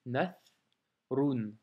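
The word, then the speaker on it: نثر: Donc ici tu as nathrun, tu vois, hein, nath, donc na, la lettre tha, donc nathrun.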